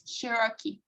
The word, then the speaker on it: Cherokee: maybe another word oh the pronunciation for this is cherokee here yes okay so let's